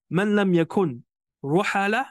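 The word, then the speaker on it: من لم يكن رحالة: Man lam yakun ruhala, this is the proper pronunciation, yani whoever is not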